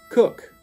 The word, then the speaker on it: Coke: name of the wealthy land owner and noblesman cook well spelled Coke but it pronounced cook and he actually commissioned lock in